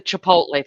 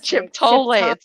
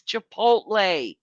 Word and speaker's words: Chipotle: chip to it's not chip tole you've said all kind of stuff Chipotle it's not Chipotle now no it's Chipotle Chipotle the way you're saying it has the T before the P look at it oh